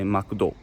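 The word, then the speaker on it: マクド: Or if you're in Kansai, they might say Makudo.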